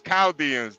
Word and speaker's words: Chaldeans: It's Chaldeans. The H is silent.